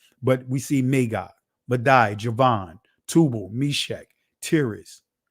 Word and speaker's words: Magog: However you want to pronounce it, but ancient Hebrew would be Magawag, but we see Magog, Madai, Javan, Tubal, Meshach, Tiras, or Tyrus.